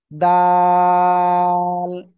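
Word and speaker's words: دال: দাল দাল সবাই একসাথে জোরে জোরে বলেন।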